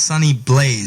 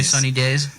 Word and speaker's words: Sunny Blaze: kept mispronouncing my name it's not I was in a days but it's sunny Blaze not not away sunny days yeah sunny days are